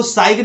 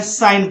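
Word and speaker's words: sign: है for rent अब इसको साइड नहीं पढ़ना है साइन करना है एक्साइज रिफाइन उसके बाद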